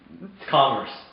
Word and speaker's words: commerce: Commerce. How do you say that word? Commerce. Are you sure? Yes. Commerce. Commerce. Like calm and then earth.